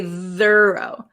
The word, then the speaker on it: thorough: tho tho okay though though has a vocalized th though and F thuro does not we don't say thorough thorough thorough okay oh this is a